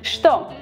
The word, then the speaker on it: Что: Что, we write the letter Ч, but we pronounce Ш.